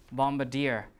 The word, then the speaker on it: bombardier: two words we have bombardier uh you remember d-i-e-r that's where the stress is bombardier right so here you